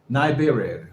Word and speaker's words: Nibiru: This is a possible image of Nibiru, the Planet X. Again, how do you pronounce his name? Nibiru? Is that correct? Nibiru, okay.